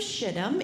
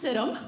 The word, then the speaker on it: Shittim: And Joshua sent two spies from the land of Shittim into... I'm sorry, Miss Christy misread that. That's pronounced Shittim. That's pronounced Shittim.